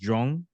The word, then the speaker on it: Joung: How do I pronounce that properly? Okay. And then last name is just Joung, or Yes, that's right.